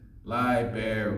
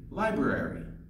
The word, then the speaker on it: library: a collection of books inside library is often mispronounced as ly bear we next time just say library I read a new book at the library